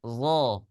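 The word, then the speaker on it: ظ: Zo, coba.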